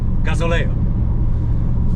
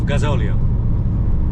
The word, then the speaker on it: gasóleo: And I pronounced it wrong because I always said gasoleo instead of gasóleo.